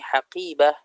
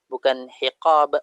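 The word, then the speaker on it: حقيبة: Tinggal bagaimana kita banyakin mufradat, yaitu bagaimana kita bisa membaca ini ini haqibah, bukan hiqab, bukan hiqibah, bukan huqibah, itu dengan banyaknya kita menghafalkan kosakata.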